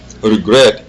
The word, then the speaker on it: regret: understandtin ici vous avez ri gre est-ce qu'on dit RET ou l'accent est mis où est-ce que l'accent est sur la première syllable re ou bien c'est la deème syllabe gr moi je pense que c'est sur la deème syll c'est pourquoi on dit regr regret et pas de regr regret est-ce qu'on dit la